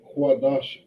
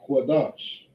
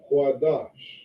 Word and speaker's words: Qadash: an A sound, right, we don't say quadash ah, we say quadash. Okay, we have the da and the sha. Okay, and these two characters right here, they connect. So we drop the syllable here on the sha, right, and putting it together, we say dash. Okay, dash. So this word right here is correctly pronounced Qadash.